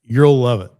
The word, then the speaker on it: URL love: It's pronounced the way you want it to be pronounced. It's you'll love it.